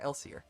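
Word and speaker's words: Elsir: Elsier.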